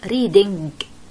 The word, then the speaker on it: reading: هاي الكلمة أقرأوا لنا إياها، نيجي بنقرأها، اسمعوني كيف بدي أقرأ reading، ولازم المستمع يسمع آخر صوت بحكي اللي هو الإج. reading هي لا تقرأ reading، هي تقرأ reading، يعني الإن جاية وسط، لا هي إن طبيعية زي هاي ولا هي إج، ما بلفظ الإج، الإج هاي لا تلفظ